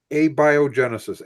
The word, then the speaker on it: abiogenesis: we were talking about a be a biogenesis abiogenesis which is the beginning this way it should be pronounced occurring to me each